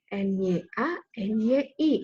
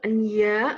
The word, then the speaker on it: nyanyi: Karena kita tidak membacanya enya, enyi, tapi nyanyi.